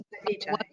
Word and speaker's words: Khadija: So Khadija. Yes, it's Khadija. Oh, great.